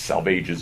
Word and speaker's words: Salvages: Salvages is pronounced to rhyme with assuages.